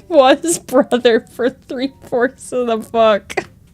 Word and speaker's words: Brutha: Brother, but with the British accent.